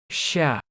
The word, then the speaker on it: Щ: Let's see their pronunciation one more time. Ша. Ша. Ша. Ша. Ща.